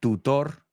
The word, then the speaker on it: tutor: Un tutor particular. A private tutor. Tutor, we say tutor. Maybe the British tutor, but we say it like a D, tutor.